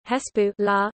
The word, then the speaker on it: حزب الله: Hezbollah, pronounced Arabic Hesbu la, literally Party of Allah